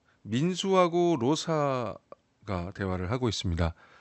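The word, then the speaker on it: Rosa: 비단도 아나고 자 민수하 로사가 대화를 하고 있습니다 사라고 꼭 발음 안 해도 되고요 로사 라고 하면 됩니다 발음처럼 하시면 되는데 장미라는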